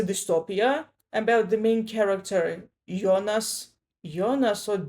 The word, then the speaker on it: Jonas: Pardon me, but I hear Jonas as a name rather than the last name and I pronounce it the German way. Yonas like the main character from the TV show Dark from from Netflix.